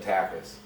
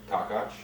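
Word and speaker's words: Takács: Almost everyone said takas. Takis. Yeah, surprisingly. Yeah. And what are the He said it right. what are the regular people supposed to say? Takas. What do your people say? My people? Yeah. Takach. Takach. Takach. So it's like takach you later, like that?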